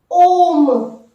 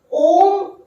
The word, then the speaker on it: homme: Now the second is Om. Om. It is beginning with the H muet silent H. It is an example of the silent H. Om.